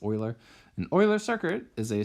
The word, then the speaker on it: Euler: called Euler circuits so as I mentioned earlier pronunciation is Euler an Euler circuit is